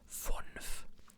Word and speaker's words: fünf: But U, the U is of course pronounced differently. It's U in German, so it would be fünf. Like you have, like there's a dialect that does that. That doesn't say fun, it says fun.